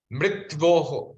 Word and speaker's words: मृत्योः: इसमें थोड़ा प्रोनाउंसिएशन इस प्रकार से, मृत्वोः, मृत्वोः। उसमें आधा यकार आएगा और आधा वकार आएगा, मतलब पूरा का पूरा तकार आधा है, यकार आधा है, वकार पूरा है।